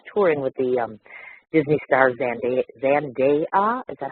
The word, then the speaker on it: Zendaya: as, of course, touring with the Disney star Zendaya. Is that how that's pronounced? I wasn't quite sure how to say that. Zendaya.